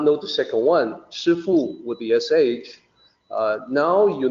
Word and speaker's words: 师父: This actually comes from the Cantonese pronunciation of the two Chinese characters. In the more proper Mandarin pronunciation, it is 师父. So it is more SH than SHI than SI for the first character.